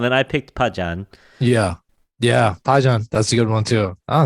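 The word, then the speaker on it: 파전: Yeah, pajeon. That's a good one too. Oh, yeah. You're pronouncing it well, man.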